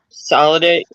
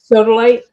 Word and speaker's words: sodalite: And there's a chunk of blue solidate. It's uh sodalite.